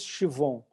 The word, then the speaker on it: Siobhan: Se escreve Siobhan, né? Mas se diz Chivon.